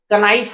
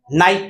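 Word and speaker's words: knife: करेंगे तो के लिए यहाँ देखिए कनाइफ होता, लेकिन के साइलेंट है तो क्या पढ़ते हैं, नाइफ पढ़ते हैं।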